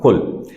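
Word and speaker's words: قل: So how to smoothen that? Cool. But we don't say cool, we say kul.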